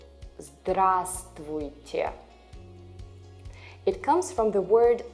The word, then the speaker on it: Здравствуйте: Здравствуйте. The first V here is silent. Здравствуйте. Здравствуйте.